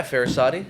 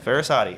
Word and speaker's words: Farasati: Farasati. Did I pronounce that right? Yeah, Farasati. Farasati.